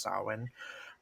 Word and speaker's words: Samhain: And then, of course, the season ends with Samhain, which is spelled Samhain but pronounced Samhain, and it is considered to be the darkest and most witchy of all the Sabbats.